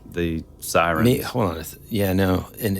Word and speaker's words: Sirin: that like a different did I pronounce it incorrectly It's s i r i n and so maybe it really is a siren but spelled Slavic like that yeah same thing